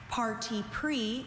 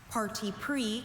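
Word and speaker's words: parti pris: Parti pre is the only pronunciation. This word is a noun. Parti pre comes from French. It means a preconceived opinion, bias, partiality, prejudice. Beth has such party pre about politics that she finds it hard to calmly hear views that she disagrees with. Party pre singular noun and excuse me,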